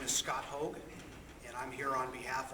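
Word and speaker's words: Haug: The first name is Scott, S-C-O-T, and the last name is H-A-U-G, pronounced Hogue.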